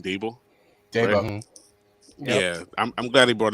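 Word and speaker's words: Daboll: they brought in uh gable that's as he pronounced his name dabel yeah i'm glad he brought him in for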